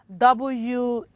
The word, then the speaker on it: whistle: Another one, WHISTLE. And of course, that is whistle, not whistle.